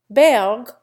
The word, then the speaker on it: Berg: Berg loses its German E sound for an English U sound, and its German hard G for an English G. It becomes identical with the berg of iceberg.